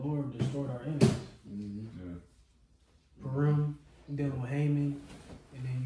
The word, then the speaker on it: Purim: And then you also got, how you say it, Purim? Purim. Yeah, Purim, and you got Hanukkah too as well.